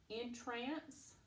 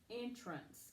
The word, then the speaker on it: entrance: say is this word in trance or do we say entrance coming to the entrance of the building yes ma'am this a again sounds like the short U so we have to